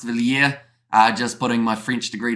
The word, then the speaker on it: Villiers: And Villiers will be pronounced Villiers.